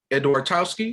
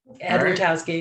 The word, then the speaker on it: Edwartowski: i'm here with edwardowski is am i not pronouncing that right andrew towsky yep i'm sorry um she received her bfa in acting from wayne state university in 1996.